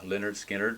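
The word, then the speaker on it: Lynyrd Skynyrd: this is their debut leonard skinner pronounced leonard skynyrd and it's an iconic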